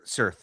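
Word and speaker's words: Cirth: A message flashes across the screen written in how how do you pronounce it? Sir Cir.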